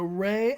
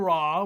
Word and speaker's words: Ra: deities especially emon okay so rey and raw we're going but both of them are our acceptable pronunciations it seems wow that's a lot